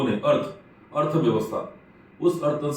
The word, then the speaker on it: Artha: नया शब्द बन गया अर्थ फिनटेक, और हमारी कंपनी का नाम रख दिया गया अर्थ फिनटेक। ये अर्था फिनटेक अंग्रेजी में उच्चारण बहुधाम करते हैं, लेकिन वास्तविक शब्द अर्थ फिनटेक।